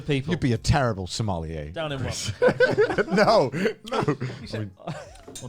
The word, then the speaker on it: sommelier: You'd be a terrible sommelier.